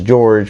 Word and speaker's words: Jorge: But you have Uncle Jorge, which some people it's okay to pronounce as George, because if you go back to the 80s in South Florida, everybody didn't understand or choose to use people's proper pronunciation.